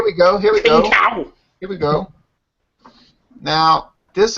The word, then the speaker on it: Qingdao: It's like Qing. It's a Qing, Dao. and then it's Dao, like I don't know, Dao, D-O-W.